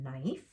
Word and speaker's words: knife: letter it's quiet so we have knife this one again k is quiet so we go right to the n end not now